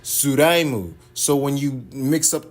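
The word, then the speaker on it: スライム: Which is in Japanese pronounced Suraimu.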